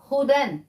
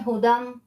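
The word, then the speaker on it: هدى: देखें हु दम यहां हु दम इसलिए लिखा हुआ है क्योंकि यह दाल और मीम आपस में कनेक्ट हो रही है इसलिए यहां इंग्लिश स्पेलिंग में हु दम लिखा हुआ है असल में यह हुदन है ठीक है हुदन इसका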